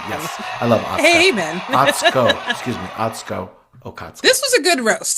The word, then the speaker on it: Atsuko Okatsuka: to tongue-popping Drag Race legend Alyssa Edwards, comedian Atsuka Okatsuka, guest judges. And go me for pronouncing it correctly. Yes, I love Atsuka. Amen. Atsuko Okatsuka.